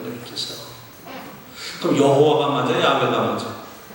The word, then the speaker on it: 야훼: 그러니까 여호와의 이름이 그게 정확하게 맞는 것 같아도 그거는 정확한 발음이 아니야. 나의 주라고 하는 것에다가 붙인 거야, 아도나이에다. 그 후대의 학자들이 계속 언어학적 연구를 합니다. 그래서 밝혀낸 게 이 네 글자를 어떻게 읽느냐 그럴 때 야훼라고 읽는 야훼. 야훼 하나님이라고 부르는 거예요.